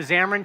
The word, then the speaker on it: Xamarin: It is pronounced Xamarin.